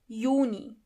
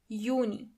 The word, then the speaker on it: Juni: June is Juni. Juni. As you know, the letter J is not pronounced as J, but as Y. So, together you have Juni.